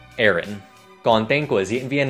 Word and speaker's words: Aaron: Các bạn cứ đọc phần đầu giống như từ Air, Aaron.